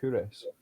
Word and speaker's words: Culross: There's a small town called Couris, but it's spelled Culross, and I spend quite a lot of time there just because it's lovely.